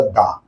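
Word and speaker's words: the: তুমি উচ্চারণ করবা টি এইচ ই কে তুমি উচ্চারণ করবা দা।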